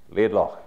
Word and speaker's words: Laidlaw: So instead of saying Laid, whatever I would have said, Laidlaw, that's how you say it, so good to know.